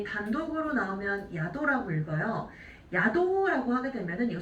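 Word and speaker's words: 宿: 얘 단독으로 나오면 야도라고 읽어요.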